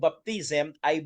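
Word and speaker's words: βάπτισμα: mga kapatid, ay ang Greek word po ng baptism ay baptisma and baptizo. Yun po yung pronunciation mga kapatid.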